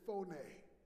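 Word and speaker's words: φωνή: It is, the Greek word is phoné. And it is spelled P-H-O-N-E.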